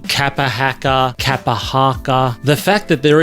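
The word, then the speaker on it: kapa haka: In our pause for pronunciation today, we're going to look at the word kapahaka.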